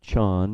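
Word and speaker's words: 禪: They called it Chan in Chinese. Chan, two schools of Chan, same character, different pronunciation.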